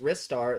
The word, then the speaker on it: Ristar: It's time for Ristar Operation Report. It's pronounced Ristar. There's no debate in Japan. It's because he uses his wrists to fling him around.